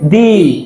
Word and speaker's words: the: সর্বপ্রথম ওয়ার্ডের আগে বসবে তখন তার উচ্চারণ হবে দি উচ্চারণ কি হবে দি তাহলে ভাল থাকলে উচ্চারণ